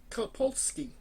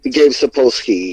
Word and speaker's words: Sapolsky: Well, another moment you had was you actually got to meet Dave Kapolsky. I believe I'm pronouncing that correct, or I'm just. Yeah, Gabe Sapolsky, yeah. Sapolsky, thank you.